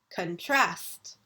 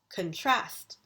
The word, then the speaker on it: contrast: Contrast. When we are using it as a verb, we put the accent on the second syllable. Contrast.